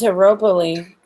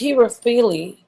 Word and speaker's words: Herophile: And her name is Heropyle. That's how you say it? Okay. Heropyle. Yeah. Heropyle. Oh no, it's Herophile. Why does it have a B there? I don't know. Maybe it was a misspelling.